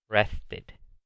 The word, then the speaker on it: rested: En este caso sí se pronuncia esa E y se pronuncia rested.